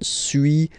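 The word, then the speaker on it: suis: So first one sui as you've been noticing you don't pronounce the final s.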